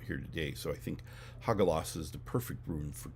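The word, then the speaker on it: Hagalaz: So today's rune, Hagalas is how it's pronounced. Hagalas.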